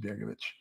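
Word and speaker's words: Begović: Now, the C is a Hacek C. So it's Begovic, V-I-C, but it has a Hacek over it, which makes it a ch sound in Slavic, but it's pronounced, it's written Begovic, and we pronounce it Begovic.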